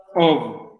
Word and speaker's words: of: La diferencia en la pronunciación es que el primero, y el que vamos a ver, se pronuncia como si tuviera una B corta. Of. Y mientras que el que tiene doble F se pronuncia como si fuera una F. Of.